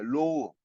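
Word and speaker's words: ρ: 이게 여기서 말하는 요거는 원래 요거는 그리스 문자로 이렇게 해가지고 이게 로우 요렇게 발음하는 건데 이게 저기 알파벳에서는 어떻게 됩니까?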